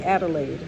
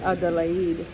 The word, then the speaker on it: Adelaide: We would say Adelaide, but in Madagascar we pronounce it Adelaide.